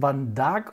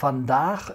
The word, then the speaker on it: Van Dark: Es heißt Van Dark und nicht Van Dach, also nicht holländisch, sondern norddeutsch platt ausgesprochen.